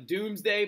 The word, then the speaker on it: Domesday: English history talk about the Doomsday Book even though it's spelt Domesday very weird thing William